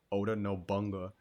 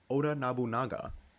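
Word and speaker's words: Oda Nobunaga: I always mispronounced it. Oda Noanga. Oda Nabunaga.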